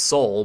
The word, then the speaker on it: Seoul: I mean, I know now that the capital is pronounced Seoul, but I guess I made a mistake with that at other points in the video.